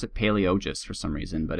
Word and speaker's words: Palaiologos: Palaiologos. I like to pronounce it Palaiologos for some reason, but it's Palaiologos.